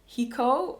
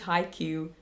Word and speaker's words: Haiku: A couple of episodes ago, I called it hiko, but that's the Dutch pronunciation of that word. But yeah, so someone said, I think it's haiku haiku.